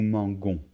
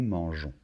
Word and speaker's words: mangeons: Si on ne rajoute pas ce E, ça ferait nous manguons. Donc il faut rajouter un E et de cette manière, on le prononce nous mangeons.